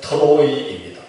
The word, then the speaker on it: 트로이: 드로아는 한국식 발음이고 원래 본 지명은 트로이입니다.